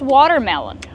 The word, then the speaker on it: watermelon: How do you pronounce watermelon? Well, it's like two words together. You have the word water, right? You have the fast d water.